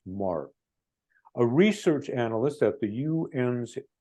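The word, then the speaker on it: Meagher: attention to this is Sylvia Mah that's how her name is pronounced Mar a research analyst at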